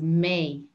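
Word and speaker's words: mé: it's the same is may may m-e with an accent may think of the month of may in summer okay may so che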